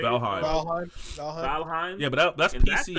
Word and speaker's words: Valheim: How do you say Valheim?